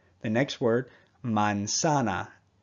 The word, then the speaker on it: manzana: The next word, manzana. Every A makes the same sound.